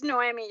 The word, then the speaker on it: Noemi: Noemi? It's Noemi, yeah, the H is silent in Spanish.